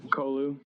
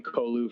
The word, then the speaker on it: Kolu: Yeah, I've always pronounced it Kolu. I don't know, maybe because my last name's and so it's just a U instead of an E.